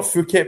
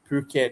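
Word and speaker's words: Phuket: It's not Fuket, by the Pette. That's how you say it. Pu as in Jobby. Puket, not Fuket.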